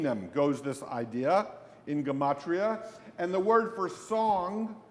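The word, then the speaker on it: gematria: Gamatria. It's spelled exactly as it's pronounced. Gamatria.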